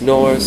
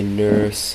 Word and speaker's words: Norse: It's Norse, some people say nurse, but just remove the U, and that's how you say it.